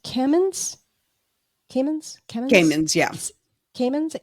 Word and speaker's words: Camins: And her last name is is it pronounced Camins? Camins? Camins? Yeah. Camins, c a m i n s.